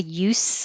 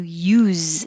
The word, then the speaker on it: use: used used to so if it means the purpose of something like what's the use of trying it will sound like use you with an s and the stress sound is oo if it's the action how do you use this it will sound like a z at the end use if it's something that's